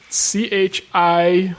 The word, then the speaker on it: Chihayafuru: How do you spell it again, though? CHIHAYAFURU.